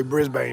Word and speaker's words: Brisbane: Shout out to Brisbane. I know how to say it now. I met somebody from there. I used to say Brisbane. That's not how they say it. They say Brisbane, but shout out to Brisbane.